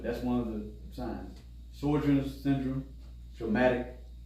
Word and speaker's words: Sjogren's: Sjogren's syndrome, traumatic. Is it Sjogren's? Yeah, SJOR. That's it. Yeah. So pronounce that. Sjogren's.